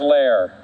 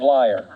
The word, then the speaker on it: Laier: morning my name is lair unless you call me for jury duty in which case i use the german pronunciation of liar it doesn't work robert